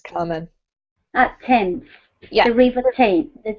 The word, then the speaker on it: Thames: So tames, whistle, and walked. Good. In walked, the T sound is actually, weirdly, the D here, right? Mm-hmm. Well done. This is pronounced Thames, Carmen. Thames.